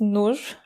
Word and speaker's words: Nur: My name is Nur.